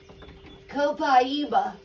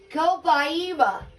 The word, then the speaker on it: copaiba: and it worked and it's pronounced like c-o-p-i-e e-e-b-a copaiba copaiba oh c and have you